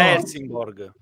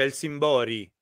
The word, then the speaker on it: Helsingborg: Amleto No in realtà in realtà si pronuncia elsim Bori El Sori El Sori